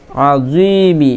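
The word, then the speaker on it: عظيم: জি মিম জের মি আজিমি এখানে খুব সাবধান জ এর উচ্চারণ করতে হবে এখানে জিমের উচ্চারণ হলে ভুল হয়ে যাবে জালের উচ্চারণ হলে ভুল হবে এখানে জ এর উচ্চারণ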